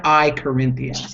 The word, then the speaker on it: Corinthians: is any Christian knows Brent that it's I I Corinthians that's how you say it exactly exactly no